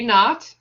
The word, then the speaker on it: naught: So we've got a naught. So a with a 0 as a subscript is pronounced naught.